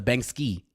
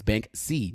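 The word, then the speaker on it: Banksy: like oh you're saying you're pronouncing it wrong it's Bank c not Bank ski and yo you're right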